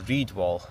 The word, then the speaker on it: Red Wall: So yeah Reed is like a Scottish name for red.